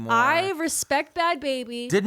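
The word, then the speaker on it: Bhabie: Is it baby or is it Bobby? It's baby. Bad baby. I thought it was Bobby.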